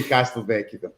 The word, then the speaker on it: Castelvecchi: Well, they're both right, but depending on the pronunciation, I would say Castelvecchi.